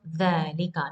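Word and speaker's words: ذلك: Za is coming from dhalika. Now we don't write with alif, but there is a small saghira here, alif saghira, and we pronounce it dhalik.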